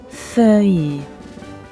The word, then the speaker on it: feuille: And for this first journey, I chose Pokémon Leaf Green, where vert is green in English, and leaf, the pronunciation is... feuille.